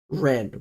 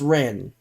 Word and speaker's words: Rennes: It's spelt like it's either, I think it's Rennes or it's like Rennais, but it's pronounced Ren because it's French.